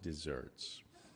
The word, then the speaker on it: deserts: So it's spelled like deserts, but it's pronounced desserts, right?